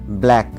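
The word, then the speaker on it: black: কে যার অর্থ হচ্ছে ইট এবং এখানেও সি সাইলেন্ট নেক্সট ওয়ার্ড আছে ব্ল্যাক বি এল এ সি কে এখানেও সি সাইলেন্ট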